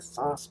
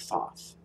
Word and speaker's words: Thoth: the writer weight not only that but the thoth deck oh she calls it thought and shield